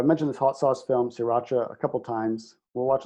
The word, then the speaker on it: Sriracha: 3 very distinct syllables. Sriracha.